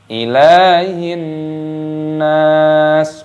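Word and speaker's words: إِلَٰهِ النَّاسِ: Ilahin nas. Ilahin nas. Lamnya dibaca panjang, ada tanda harakat seperti ini. Ilahin, alif lam samsiyah, nunnya berharokat tasdid, maka ditekan, diidghamkan, dimasukkan dan dipanjangkan nunnya, ada tanda alifnya.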